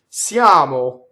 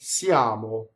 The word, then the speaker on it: siamo: Siamo. We are. And that's a semivowel. Siamo.